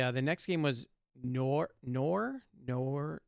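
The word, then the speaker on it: Nour: the next game was nor nor nor not like noir like noir it's n-o-u-r so i don't know how you pronounce that nor is it nor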